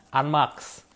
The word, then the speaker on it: ANMAX: Banyak orang-orang sih yang penyebutannya mereka bilang NMAX kan. Sebenarnya itu dibacanya Unmax.